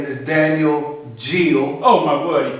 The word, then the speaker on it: Geal: His name is Daniel Geal. Oh my word, he pronounced it correctly.